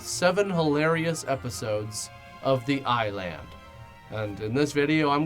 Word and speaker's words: I-Land: and just the whole time shouting just it's pronounced island you stupid this show is a perfect example